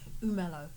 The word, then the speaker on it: Umelo: Umelo. Umelo. Mhm. Umelo. Umelo. Like Melo. Like the basketball.